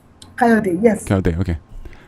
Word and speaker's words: Kayode: Kayode. Do you say the E at the end of the Kayode? Kayode, yes.